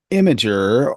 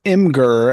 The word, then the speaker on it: Imgur: find where it is so imager or imer as it's spelled I know this is a controversial thing I think we're both on the same page it is spelled imer but imager I get what you mean it's because it is for images but regardless of what